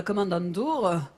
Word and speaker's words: Kommandantur: a quand même convaincu le chef de la Kommandantur de ne pas... Tu prononces bien Kommandantur.